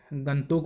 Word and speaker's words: Gangtok: और सिक्किम की राजधानी का उच्चारण आज से आप लोग याद रखें कि ये आप या तो गैंगटोक कहेंगे या तो आप इसे गंतोक बोले या गैंगटोक बोले, लेकिन गंगटोक का उच्चारण जो हम करते आ रहे हैं वो गलत है।